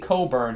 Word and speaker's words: Cockburn: It's pronounced Kofi Coburn.